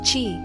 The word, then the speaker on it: qi: The first principle is qi, pronounced qi.